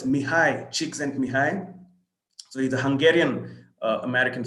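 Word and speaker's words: Mihaly Csikszentmihalyi: And that's what that name is pronounced as Mihai Csikszentmihalyi.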